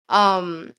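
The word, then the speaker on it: Noumena: I know it's pronounced Numina, but it's not. I call it Numina.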